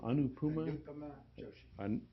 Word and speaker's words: Anupama Joshi: He co-authored that with UEPI staff member, how do you pronounce her name? Anupama Joshi.